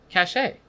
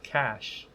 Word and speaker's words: cache: buying weapons or whatever cache cach a that I think that's how you pronounce it I think it's cash are you sure I'm